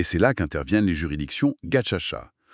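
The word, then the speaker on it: Gacaca: Face à cet impasse, les autorités rwandaises ont dû trouver une autre solution et c'est là qu'interviennent les juridictions Gachacha. On prononce Gacha. Gaka, ce sont ces tribunaux traditionnels.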